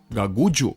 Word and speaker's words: Gagudju: Although the park’s name is reminiscent of a bird from the order of parrots, it actually comes from the mispronunciation of “Gagudju”, the name of an Aboriginal language spoken in the northern part of this region.